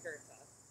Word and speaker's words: Goethe: His name was Johann Wolfgang von Goethe, which I used to pronounce as Goethe until I met Nicholas, and he told me that the German pronunciation is actually Goethe.